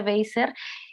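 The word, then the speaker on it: Wasser: Ella es Joan Weiser o Weiser, se pronuncia Weiser, pero justo su nombre artístico desde hace varios años es Joan as a Police Woman.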